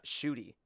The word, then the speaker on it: Ncuti: i'm pronouncing that correctly i believe his first name is pronounced uh shooty shooty yeah yeah it's it's it's shooty shooty gatwa all right this [